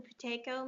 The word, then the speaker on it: Buteyko: And I believe it's called, you can correct me if I'm wrong, Kevin, the Buteyko method. That's how I pronounce it, yes.